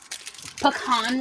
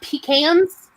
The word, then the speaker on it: pecan: Pecan roll. Yes. Yes, baby. Yes, with the yeah. And it's pronounced "pi" as in a pit. It's pecan roll. It's not pecans.